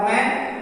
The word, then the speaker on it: when: फिर उसी तरह WHEN, यहाँ H साइलेंट होगा वैन और वेदर।